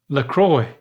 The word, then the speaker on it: La Croix: No, you'd say, you wouldn't say the X. LaCroix. Closer. And the R would be a W.